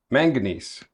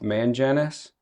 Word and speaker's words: manganese: It's called manganese. Manganese. Mhm. Okay. Manganesees. Also known now known by people that don't pronounce it very well.